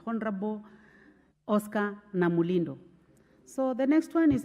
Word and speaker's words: Namulindo: of adjournment was moved by the Honorable Oscar Nabulindo. So most of you have just been saying by the Honorable member. I realize that it's very difficult to pronounce his name, but it's Honorable Oscar Namulindo.